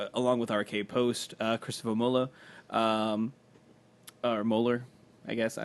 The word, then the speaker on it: Moeller: I threw like a little bit of German flair on it. There's no umlaut, so it should just be Moeller.